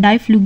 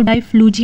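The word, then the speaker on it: Difflugia: सब phylum Sarcodina जिसमें डाई फ्लूग या आप इसको डाई फ्लूज भी पढ़ सकते हैं कुछ भी प्रोनाउंस कर सकते हैं ये एक अनदर कॉमन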